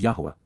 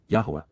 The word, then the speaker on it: Yahowah: Lapana, face to face, approaching the appearance, of Yahowah, Yahowah, the proper pronunciation of the name of Eloah, God as